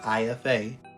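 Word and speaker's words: Ifá: and type in either ifa e5 that's how you pronounce that word ifa or orisha o r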